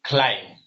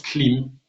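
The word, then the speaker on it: klīṁ: say it in the, like they would say climb, basically. But to sort of clear that pronunciation error, we put in two E's because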